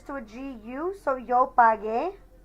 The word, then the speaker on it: pagué: a GU, so yo pagué. If we didn't add that U in there, we would actually have to pronounce that yo pagé. And that just doesn't sound right.